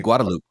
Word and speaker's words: Guadalupe: here especially in Austin they don't say Guadalupe they say guadaloop they say guadaloop gu